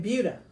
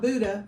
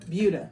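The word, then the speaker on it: Buda: this one made in buha not Buddha buha if you saw my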